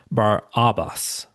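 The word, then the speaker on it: Barabbas: Now, the name, let me pronounce it a little differently. Bar Abbas. Bar Abba. It literally means son of the father. And Matthew actually gives us his first name, Jesus Barabus.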